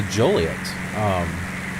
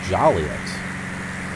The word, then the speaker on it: Joliet: in Kankakee probably get irritated with people can't pronounce your town right so Juliet there are some people that pronounce it jolly us it's not jolly it looks Juliet and even